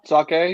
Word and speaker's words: sake: Overall, I think people say sake, but it's not pronounced sake. It's sake.